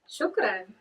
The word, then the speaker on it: shukran: How do you say thank you in Arabic? Shukran.